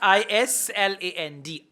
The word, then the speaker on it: island: I S L A N D. Island. S is silent.